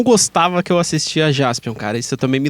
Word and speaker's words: Jaspion: Só que como o japonês fala Jasupion, então ficou Jaspion pra gente.